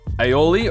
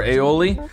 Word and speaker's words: aioli: I can get with aioli or aioli I've heard it pronounced both ways um and you